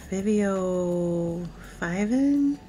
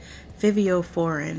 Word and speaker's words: Fivio Foreign: I never know how to say his name. Fivio Fiven? If I'm saying that incorrectly. Fivio Foreign, I'm sorry.